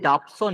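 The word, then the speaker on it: Dobson: layer কতটা ঘন সেটা এটা ডবসন আচ্ছা ডবসনও বলতে পারি বা ডাবসনও বলতে পারি যেহেতু ইংলিশ উচ্চারণ তো ম্যাটার করে না ডাবল ই আর ডবল ই হলো ডাবসন এটা হচ্ছে একজন বিজ্ঞানীর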